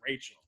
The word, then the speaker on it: Rachil: That's right, that's pronounced Rachel.